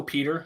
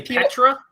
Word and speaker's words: Petr: his first name some some just go peter some say peor tor some say petra is i think the correct way to say it but everyone just says peter i don't think he